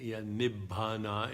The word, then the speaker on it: Nibbana: The ultimate reality, Nibbana is another way to pronounce it.